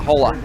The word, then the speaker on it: Holda: Ethan Holda. Yeah, Hola. Ethan. Yes. You got the first name wrong, I got the last name wrong.